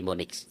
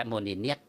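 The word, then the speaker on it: Monineath: ที่ เรา เรียก เอ่อ พระ ราชินี โมนิส ถ้า เป็น แบบ ออก เสียง แบบ ฝรั่ง นะ ครับ แต่ ถ้า เป็น ภาษา คแม เ้า เรียก ว่า โมนิเนียด อื แปล เป็น ไทย ว่า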